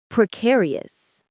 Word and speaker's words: precarious: Precarious. Precarious. The stress is on care.